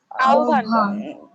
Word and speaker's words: আহ্বান: তাহলে আহ্বান শব্দের উচ্চারণ কি? আহ্বান।